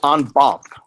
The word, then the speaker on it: en banc: this is something called onb or on Bank depending how you say it in Texas right